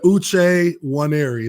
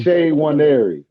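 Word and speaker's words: Uche Nwaneri: now okay yeah man Luce one area that's that's how you say my name day one area yes sir yes sir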